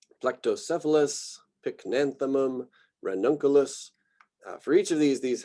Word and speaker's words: Pycnanthemum: very strongly about this, pronouncing the third to last syllable. I've got a group down here at the bottom that are the third to last, otherwise known as the antepenultimate syllable. It's sort of like when you can pronounce that as the emphasized syllable.